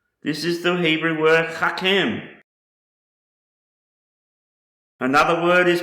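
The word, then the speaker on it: חכם: The next Hebrew word I want to show you is pronounced Hachem, and it means to be wise. Wise. This is the Hebrew word Hachem.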